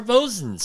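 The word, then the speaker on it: boatswain's: a body harness or bosun's chair. I never understood why it's spelled boatswains and you say bosun's chair.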